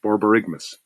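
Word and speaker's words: borborygmus: Bear, you have the loudest case of borberiggamus. I have never heard never heard of that. Borigmas. Borarigmas.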